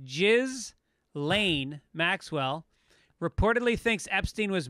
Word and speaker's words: Ghislaine: right next story jesus jesus maxwell pronounced jizz lane maxwell reportedly thinks epstein